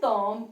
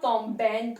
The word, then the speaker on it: tombent: Remember one thing, ENT is silent. We do not have any sound for ENT. That's why I said tombe only over here. Il tombe, elle tombe. Not tombent or tombon.